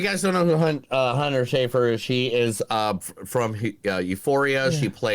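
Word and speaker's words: Schafer: And Hunter, oh man, I don't know how to pronounce her last name correctly. Yeah. Schaefer Brown? Hunter Schaefer? Is it Schaefer? Yeah, Schaefer.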